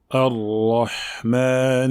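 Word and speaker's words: الرحمن: Donc voyons maintenant la bonne prononciation de ce verset, ainsi que des erreurs récurrentes à éviter. Ar-Rahman Ar-Rahim.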